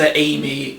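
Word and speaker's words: AIME: It's actually pronounced Amy. Amy, that's it. Stands for Artificial Intelligence Mainframe Entity.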